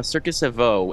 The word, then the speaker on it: Circus Evo: And Houston, the name of your company, Circus Evo, is how you pronounce it. Can you say it again for us? Yeah, Circus Evo.